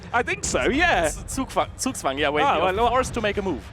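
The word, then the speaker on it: Zugzwang: It's called Zugwang where you're in a really tricky we're in a really tricky position.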